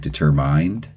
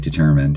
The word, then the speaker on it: determined: the words and so students will say things like determ mind which kind of makes sense when you think about it m you know it's the silent E stretching the eye long but uh in a word like determined it just doesn't work but they're determined to say it that way so anyway uh then